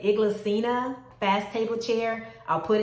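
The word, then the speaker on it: Inglesina: items in my family I think they pronounce it iglesina fast table chair I'll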